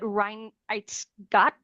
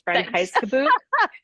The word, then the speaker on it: Reinheitsgebot: know that those I'm going to butcher the pronunciation of this, but Reinheitsgott. Jamie, I bet you could definitely. So I can, but I really wanted to hear you do it first. Okay, It's Reinheitsgebot.